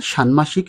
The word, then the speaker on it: ষাণ্মাষিক: এই নিয়মটি রয়েছে বাংলা একাডেমী কর্তৃক প্রকাশিত বাংলা উচ্চারণ অভিধান গ্রন্থে যা অধ্যাপক নরেন বিশ্বাস কর্তৃক রচিত অতএব আমরা সানমাসিক শব্দের শুদ্ধ বানান লেখার সময় মূর্ধন্য ন ব্যবহার